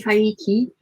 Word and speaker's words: hygge: like and jackie says isn't it pronounced more like hygge here we go vicky says oh she's such a sweetheart and julie says no it's definitely haiki jackie says i'm not